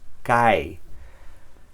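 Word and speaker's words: καί: Entonces, esta palabra no se pronuncia kai, sino kai. Es una ligera diferencia, pero para pronunciarla bien es kai.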